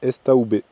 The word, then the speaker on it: Estaubé: Sur la route du Mont Perdu, Estobé vient du mot estive, pâturage d'altitude, prononcé estaoubé.